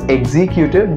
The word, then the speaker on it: executive: So it is written as executive, but the correct pronunciation of this word would be egg. I have made it very simple, like the eggs we eat.